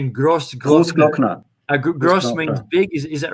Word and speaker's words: Großglockner: This is Großglockner because the O is spelled longer.